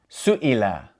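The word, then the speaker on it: سُئِلَ: So for example, if we pronounce this all together as one word, we would say Su'ila, Su'ila, with that pause in between the Su and Ila.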